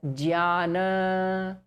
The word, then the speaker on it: Jnana: So we will stick to the first way of pronouncing it as Jnana.